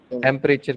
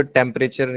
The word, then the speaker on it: temperature: Temperature किसने कहा है? आपने. पहले तो temperature या temperatures नहीं, it's temperature. Temperature. E almost silent.